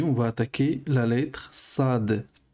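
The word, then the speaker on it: صاد: Aujourd'hui, on va attaquer la lettre Sad. Sad. Donc, Sad, ça s'écrit comme ça. Et c'est. Il n'y a pas vraiment d'équivalent en français. Alors, en français, on a le S.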